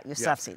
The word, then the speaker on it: Yousafzai: Malala Yousafzai. Right, the Nobel Peace Prize winner. It's Malala Yousafzai. Yeah, Yousafzai.